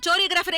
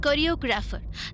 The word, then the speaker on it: choreographer: என்ன அந்த சோரியோகிராஃபர் எங்கடி போனா? ஃபங்க்ஷனுக்கு நான் தான் எல்லா ஏற்பாடும் செய்யணுமா? சோரியோகிராஃபருக்கு போன் போடுறி. இந்த சோரியோகிராஃபர் டைமுக்கு வரவே. Pinky, it's choreographer.